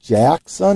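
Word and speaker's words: Jaxxon: the first appearance of jackson i believe is how you pronounce it j-a-x-x-o-n um not sure who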